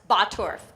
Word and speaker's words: Bottorff: second name my last name is even worse batorf b-o-t-t-o-r-f-f 's it's a confounding Cornucopia of consonants